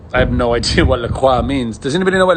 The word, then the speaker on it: LaCroix: look Freud qua qua look how are you supposed to pronounce and I think the company themselves call it Lacroix but I mean shouldn't we pronounce it more French than that Lacroix Lacroix I'm not even sure